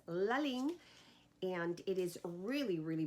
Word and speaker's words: Ligne: And this brand is called Ligne, and the reason that I know that is how you pronounce it is because they have something in there and it says Ligne, and it is really, really beautiful.